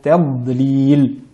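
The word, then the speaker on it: تضليل: cette surah, fi tadlil, nous avons d'abord la lettre Ta du mot tadlil, qu'il faut bien veiller à prononcer de manière amincie, à ne pas prononcer de manière emphatique à cause de la lettre Dad, ta, tadlil. Et la lettre Dad, bien appliquée à l'istitala, donc le fait d'étirer les lettres Dad sans appliquer de qalqala tadlil, mais bien tadlil.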